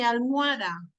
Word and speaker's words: almohada: Almohada. Tiene 3 sílabas, ¿no? Y lo pronuncio de esa manera. Pero, ¿está correcto? No, no está correcto. Almohada, ¿cuántas sílabas tiene? A ver, menciónalo. Al, o, a, da. Claro, porque entre la O y la A hay 2 vocales fuertes.